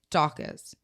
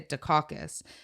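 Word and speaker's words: Daukaus: never say his name, Dawkins. I always say Dukakis because I think of Secaucus, New Jersey. Oh. Okay. So every time I say his name, I say Dukakis, and I know that's not right, but I just say that automatically.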